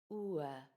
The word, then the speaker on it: oë: The word is spelled with just an O followed by an E, but the E has two dots above it. These dots tell us to pronounce the O and the E separately.